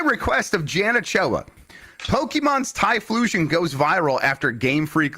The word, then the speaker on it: Typhlosion: One particular story, I guess this is from the lore, about Typhlosion. Is that how you say it? Typhlosion?